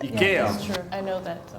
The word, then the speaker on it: IKEA: So we say IKEA for when we speak English, but that's not how you pronounce it. IKEA.